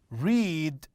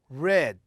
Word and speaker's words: read: form in the past i pronounce it read not read okay this is about the present i read i always read my book or i always read books so this is in the present but when i'm saying i read bach this is about the past so it is the same in the same in uh the form but it is different in uh the pronunciation okay do dead go